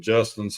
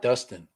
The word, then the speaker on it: Justin: I thought it was Justin, not Dustin. That's what Kovacs say. What? Yeah. Justin, like the J.